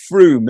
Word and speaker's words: Frome: just moved and and i believe it's froome isn't it it's not from that is yeah yeah